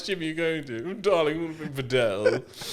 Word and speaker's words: padel: It's spelled P A D E L. See, I reckon people calling it paddle, but yeah, the French are like bedel. It is bedel.